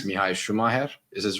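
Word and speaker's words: Schumacher: correct but guys I saw comments about Schumer pronunciation and it is not Schumaker it's actually I was right it's Mii shumer is his right pronunciation in his name uh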